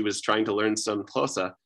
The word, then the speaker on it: Xhosa: to learn some Xhosa, she does not pronounce it as Xhosa. She restricts it, or she, reduces it, that's the word, to a different click. So instead of saying Xhosa with a lateral click, this person uses a